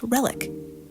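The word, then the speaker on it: RELHIC: So, the acronym is pronounced relic.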